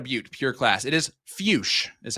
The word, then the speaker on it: Fuchs: Fuch is how you pronounce that. Troy. So, I do want to say for a little extra context here on given predictions early on, uh, Zach Fus, last time we saw him was also in